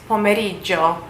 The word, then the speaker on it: pomeriggio: But basically how you say afternoon is pomeriggio.